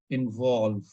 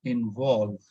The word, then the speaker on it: involve: So here it means we need to stress on VOLVE. So it's like involve. We are not stressing on IN, we are stressing on VOLVE. So it should be involve.